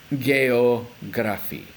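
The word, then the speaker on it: geografi: pronounce it I mean it looks very similar in English but there's a small difference so this first letter is gay geography geography geography Indonesia okay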